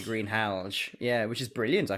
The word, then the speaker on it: Greenhalgh: I never knew that was how you pronounce that name, Greenhalgh. No, I would never have guessed that, and that's exactly how it's pronounced, apparently, Greenhalgh.